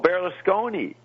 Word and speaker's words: Berlusconi: Oh, Berlusconi.